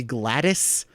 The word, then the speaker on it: GLaDOS: i do not care if the pronunciation is supposed to be gladys i don't care i see dos and i'm gonna say glados because operating system haha it's funny glados